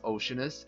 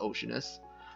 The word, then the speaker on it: Oceanus: Alright, so Okeanos is actually pronounced Oceanus in English.